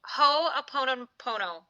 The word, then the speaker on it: Ho‘oponopono: How do you pronounce it? Hoon pono. Say it. Ho a pon pono.